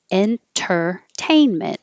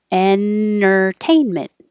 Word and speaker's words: entertainment: of fun in tur you can say that with the t entertainment or you can drop the t because when the t comes after the n and the t is in the unstressed syllable you can skip it so your tongue is going to the same place and entertainment for your entertainment it can sound like for your if you want